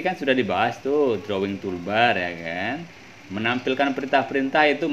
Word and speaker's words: toolbar: Toolbar format. Toolbar ya. Johan bacanya toolbar bukan tolbar.